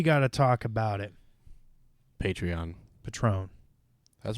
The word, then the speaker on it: Patreon: Guys, So, like, it's Patreon, not Shots of Patron. It's spelled the same.